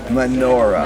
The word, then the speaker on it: menorah: This has 7, so it's a menorah. Menorah. I'm getting better at the pronunciation.